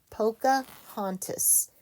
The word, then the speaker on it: Pocahontas: Capital P, O, C, A, H, O, N, T, A, S. Pocahontas. Literally, it sounds exactly like it looks.